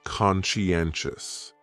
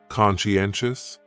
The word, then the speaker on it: conscientious: So, conscientious has 4 syllables, and the stress is on that third syllable, N. Conscientious, conscientious. That second syllable is what really confuses people, because that sigh almost sounds like you're saying she. Conscientious, conscientious. Someone who is conscientious just